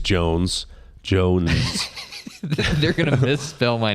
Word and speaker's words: Joens: somebody walked up to Carson I think it's Jones Jones they're gonna misspell my name they're gonna miss you mispronounce until you look at it oh yeah it's just Jones okay yeah uh what's gonna be on your